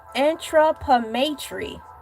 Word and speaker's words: anthropometry: This is how you phonetically break it down. Anthropometry.